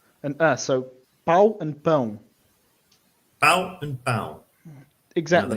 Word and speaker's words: pão: pau and pão. Bow and bow. It's a bit more nasal.